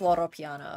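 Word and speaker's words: Loro Piana: I pronounce it Porsche. I don't know if that's right. Lamborghini is Italian. It is Loro Piano, okay.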